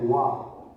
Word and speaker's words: 和: The first character is pronounced as wa, meaning harmony.